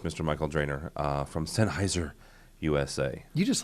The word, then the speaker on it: Sennheiser: you hey Michael yes sir it is properly pronounced senheiser right that is correct what am I saying